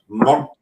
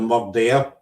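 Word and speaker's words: murda: It's the word murd, M-U-R-D-A. That's how we pronounce it up here. Instead of murder, you know.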